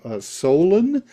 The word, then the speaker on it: Solon: And of course, Plato supposedly got his from his ancestor Solon. Am I pronouncing it?